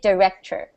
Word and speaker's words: director: d i c t it is written as director like there's an o r at the end but we don't pronounce the or we just say director director it's like or t e r even though it's written as o r okay um the the